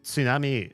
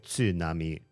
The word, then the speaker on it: tsunami: Tsunami is a Japanese word which is why I pronounced it just now like I was speaking Japanese because I am uh tsunami is it's from another language. If you can pronounce the T, great. If you really struggle with the TS uh consonant cluster, which some some nationalities,